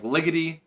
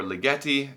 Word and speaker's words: Ligeti: terms of color like Ligety or Ligeti depending on how your pronunciation is these guys will play